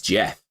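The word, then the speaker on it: Geoff: Joff to win Jeff why does he spell it like Joff but it's Jeff I want Jeff Neil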